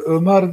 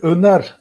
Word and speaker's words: Öner: Sayın hocam, Ömer değil, Öner adım biraz yanlış telaffuz ediliyor.